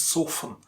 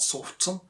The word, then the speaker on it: soften: Look at the pronunciation, it's soften, not soften. Soften, just like the way you pronounce fasten. Fasten and soften.